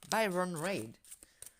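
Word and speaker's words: Baron-Reid: Baron Red, si je le prononce à la française. Byron Reid.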